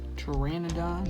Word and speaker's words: pteranodon: could find trended on pteranodon is right over here remember guys the p is silent when you say it now looking for pterodactyl